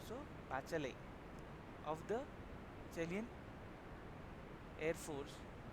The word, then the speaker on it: Bachelet: The T is silent, so Bachelet of the Chilean Air Force and many others who had refused to join the coup.